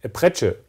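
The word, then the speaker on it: Aperture: Benny Schmidt schreibt nochmal, Apprecha spricht man wie Apprecha mit Betonung auf dem A.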